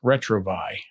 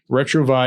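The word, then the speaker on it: retrouvaille: look at something like retro buy yeah retro VI is spelled r e t ro u v AI ll e it's the French word for rediscovery ok and retro V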